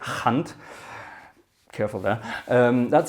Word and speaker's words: Gant: this is a um you might say gant but it's actually a hunt careful there that's how